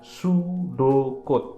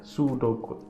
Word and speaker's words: pseudocode: Ingat, itu bacanya pseudocode, jadi P-nya itu nggak kebaca ya, pseudocode.